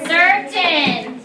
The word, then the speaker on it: certain: about the beginning Parker what's tricky about at the beginning the C sounds like an S and what do we call that soft soft c not silent so we close Saucy